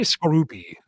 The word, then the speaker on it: Skorupi: Scoropie? Scoropy? I say Skorupi.